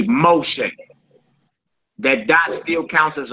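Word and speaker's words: משה: Moshe. Now, who is that? Who what famous person is that in the Bible? Moses. That's Moses. That's how you pronounce Moses name. Moshe. But you but you see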